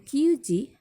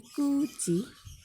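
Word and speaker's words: 九時: Lalu hachiji, kuji, bukan kyuji tapi kuji.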